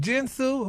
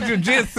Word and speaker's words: jiu-jitsu: Jinsu, how you pronounce that word? Jinsu? What's that fighting? Kitsu? What's that? Jiu-jitsu? Girl, jiu-jitsu.